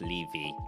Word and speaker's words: Levy: My surname is pronounced Levy, like leave me alone.